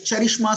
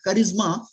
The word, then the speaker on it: charisma: Yeah, see, some people call it charishma, some people call it charisma.